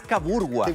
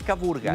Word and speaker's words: Caburgua: Lo otro es caburgua, ¿cierto? No es caburga, es caburgua. Caburgua es lo que me dicen los vecinos acá, que es la pronunciación correcta del sector.